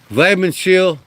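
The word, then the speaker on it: Weidmannsheil: It's It's like I said a W, but it's pronounced like a V. Vman shield Velm Veterbach.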